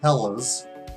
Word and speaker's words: Helles: oh well depends on how you want to pronounce it this is hells bells fellas lager but technically it's pronounced Hellas which in German means bright or clear the